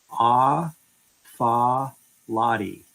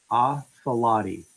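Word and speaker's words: Atfalati: So if you break down the name, it's Ah Fa Lottie. Athalati.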